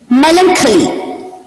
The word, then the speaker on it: melancholy: Melancholy. Melancholy. Please get the pronunciation of the word correctly. The word is pronounced as melancholy.